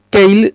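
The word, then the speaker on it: Keil: a trabajar con uno que se llama tail kyle se escribe y l es una empresa alemana que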